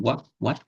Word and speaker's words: what: What? Esse T aqui é bem fraquinho, dá para deixar ele bem fraquinho. Né? Se você falar bem rápido também, você pode até meio que deixar o som dele mudo, né?